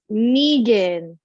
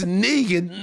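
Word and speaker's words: Knigin: k-n-i-g-i-n j-i-n yes it's negan no you you for some reason you said it right now but you didn't you didn't okay it's negan like from walking dead yeah i i've never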